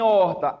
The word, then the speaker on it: horta: H no início, o H mudo no início, ele conta como dígrafo? Não. O que é que eu tenho aí, gente? Ó, de todos que vimos aqui, palavra horta entraria em qual? Encontro consonantal, formado pelo RT. Seria imperfeito, né?